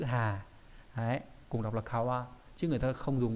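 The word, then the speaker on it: 川: ấy người ta dùng chữ hà đấy cùng đọc là kawa Chứ người ta không dùng cái chữ chữ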